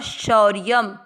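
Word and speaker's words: शौर्यम्: सहित समझेंगे पहला चरण श पर औ की मात्रा शौ य के ऊपर आधारा शौ के साथ शौर य शब्द पुराने के बाद य पे अनुस्वार आधा म शौर्यम तेजो दोनों अक्षर दीर्घ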